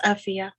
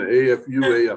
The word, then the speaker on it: Afua: It's like Sophia, but it's Afia. Afia. Okay, I'm sorry. I keep saying A-F-U-A, Afua.